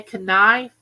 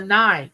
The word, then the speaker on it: knife: said no is salmon do you say kife no it's a knife the K is silent well the L is